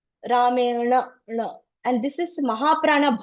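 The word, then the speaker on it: rāmeṇa: The tongue should hit the roof, okay? Ramena, na.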